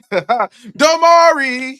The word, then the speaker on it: Damari: That name rhymes with Omari. Damari, yes, I would, bro.